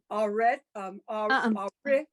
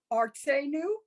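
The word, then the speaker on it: ארצנו: Now remember, when we have that shva in the middle of a word, we come to a dead stop. It's arit. It's dead stop, means no vocalization, no no anything. It's R.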